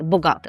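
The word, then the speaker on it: bogaty: Тут зверніть увагу, що не ба, а богати. Богати.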